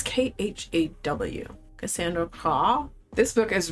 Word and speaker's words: Khaw: It's Khaw.